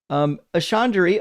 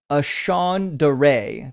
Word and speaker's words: Ashandare: Ashandari. Oh, thank you for the pronunciation. Ashandare. There we go.